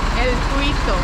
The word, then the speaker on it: El Tuito: How do you pronounce it? El Tuito.